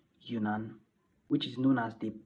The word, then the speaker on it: Yunnan: So Zhang and her father decided to move to a different province called Yunnan. Well, I'm sorry I pronounced that wrong. It's actually called Yunnan.